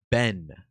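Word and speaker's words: בן: And this is important as well because in the Hebrew language, the word for son is spelled bet noon which is pronounced ben.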